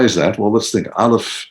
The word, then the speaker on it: aleph: Aleph is totally silent. Aleph is, there's no sound. Chet, remember, is an unnatural letter. Chet, you have to break out of the natural world in order to achieve. Aleph is no sound.